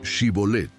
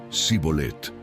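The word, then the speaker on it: shibboleth: Los efraimitas, por su dialecto, no podían pronunciarla correctamente y decían sibolet.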